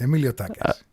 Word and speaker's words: Emiliotakas: Emilio Takas.